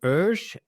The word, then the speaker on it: Oesch: having me you know my name is Ur or the people in America say oh I know it's hard to pronounce the uml you know the way we call it here in Switzerland so but it's Okay so but before